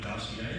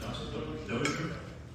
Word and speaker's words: Dozier: Barney Dossier, is that the way you pronounce it? Dozier? Barney Dozier, thank you.